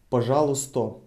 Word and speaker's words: пожалуйста: Another possible answer would be пожалуйста. Пожалуйста. Written пожалуйста, pronounced пожалуйста. Пожалуйста. We're removing e and changing a to o, пожалуйста.